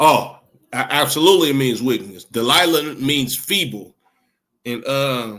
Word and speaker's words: Delilah: absolutely it means wickness Delila means feeble and uh how you pronounce it in Hebrew is the the the the that's how you pronounce d Delila in the Hebrew delaya which means feeble or to be weak